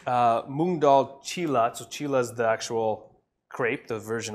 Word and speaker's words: moong dal cheela: research from it because I knew I was gonna butcher the name but it's moong dal cheela so Chile's the actual